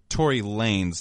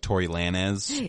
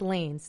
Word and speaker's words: Tory Lanez: first ask so it's Tory Lanez not like Tory Lana's I thought it was Lana's I feel like that's how you pronounce it in Spanish like Lana's but it's lanes Tory Lanez I believe